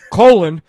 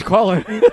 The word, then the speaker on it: Colin: I didn't want to pronounce it colon. So, I know it's Colin.